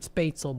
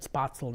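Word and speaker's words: Spätzle: first tried it for the longest time it pronounced it spatel but I pronounce it spatel now uh because I guess that's the correct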